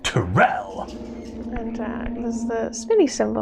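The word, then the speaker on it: Turel: Which is pronounced Terrell!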